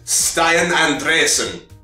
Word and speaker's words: Stian Andresen: From Stian Andresen, which is the pronunciation we've settled on for that name.